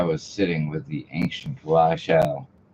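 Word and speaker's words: Rachele: sitting with the ancient Rashelle. Not Rachel. Sorry, it's Rashelle.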